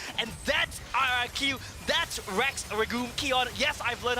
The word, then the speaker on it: Rex Regum Qeon: times as fun and that's our iq that's rex regul kion yes i've learned how to pronounce their name and they make it work